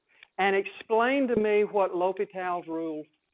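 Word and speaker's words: L'Hôpital: explain to me what Lo's rule says. Yes, it's it kind of looks like hospital, but it the correct French pronunciation is low.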